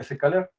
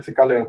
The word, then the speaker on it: scikit-learn: Bueno, yo no suelo decir SK, pero en realidad se llama SK. Así es que bueno, digo sklearn, pero creo que se escribe así.